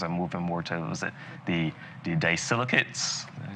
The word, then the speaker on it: disilicates: But, more and more we're moving away from, the traditional types of crowns and moving more to, the disilicates?